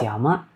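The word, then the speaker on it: 山: Have you ever seen kanji that's change its sound every time you say it like this one? Sometime it's yama, sometime it's sun.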